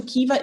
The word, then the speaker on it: Caoimhe: The pronunciation is Kiva. So my students say, oh, so Kiva is your nickname and your name is Caoimhe? No. Like this actual pronunciation is Kiva, because in Irish, MH is like a V, and I can't explain the rest.